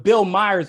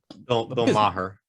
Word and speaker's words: Bill Maher: then couple that with the disaffected liberals, the Bill Myers, even Bill Myers done with the Democrats. And that man is Bill Maher.